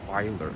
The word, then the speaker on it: Feeler: Feeler. I think you said it was it's pronounced Filer, right?